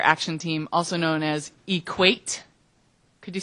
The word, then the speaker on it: EQAT: I'm the director of Earthquaker Action Team, also known as EQAT. Could you say it after me? EQAT? Thank you. There are many pronunciations out there.